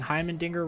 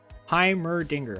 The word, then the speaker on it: Heimerdinger: Apparently, I've been saying Heimendinger wrong. I don't know how you say it. Heimerdinger? Heimerdinger.